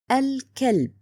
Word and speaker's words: الكلب: The next word الكلب. Here لام قمرية written and pronounced.